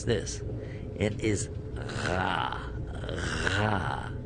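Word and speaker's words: ر: Ra, from the back of the throat.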